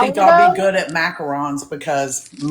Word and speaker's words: macaron: How do you say it though? I say macaroons. Macaroons are the puffy coconut cookies. Macarons. Yeah. So, it's two separate things.